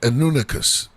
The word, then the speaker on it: Anunnaki: The nets are like the Anunnakis, the Anunicas. That's the way you properly pronounce it.